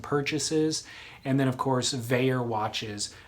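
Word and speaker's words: Vaer: And then, of course, Veyer Watches. Veyer is spelled V-A-E-R.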